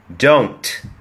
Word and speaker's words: Don't: Right Here ดู ครับ Don't ไม่ ใช่ Don't นะ ฮะ Don't เรา พูด ครับ Don't ให้ มี น มี ท ตอน ท้าย ครับ Don't Don't แล้ว